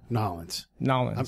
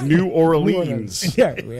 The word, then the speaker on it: New Orleans: Nolens. I'm trying to learn how to say it right. There you go. I'm such a white dude. I'm like, New Orleans. He'll pronounce every letter.